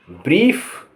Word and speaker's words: brief: IE इसका उच्चारण होगा ई, या EI लिखा होगा उसका उच्चारण होगा ई, तेजी से आएगी, लंबी खिंचेगी। जैसे BRIEF ब्रीफ माने संक्षिप्त।